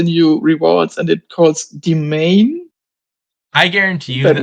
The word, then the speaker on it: Demesne: Uh, I think I played chorus when and she said domain and I said what? We don't have this card in here in this kingdom. yeah, it's spelled like Demesne.